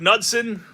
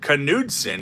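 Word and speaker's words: Knudson: the house says Mark nudson I don't know why my screen is being difficult it's pronounced kudon he has mentioned this in a YouTube video that's pretty crazy and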